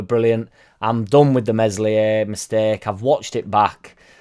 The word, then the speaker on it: Meslier: be going back across meslier silent s sorry mate in which